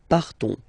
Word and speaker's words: partons: So classic ending ONS, you don't pronounce the S, you just have this on sound nasal. Nous partons, nous partons.